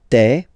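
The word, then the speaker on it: tes: aspect of it, then remember that this es here combined will give you the sound e. Okay, so you'll pronounce it like me. Mais, mais, okay, te, so logical, same pronunciation here, te, se, alright, so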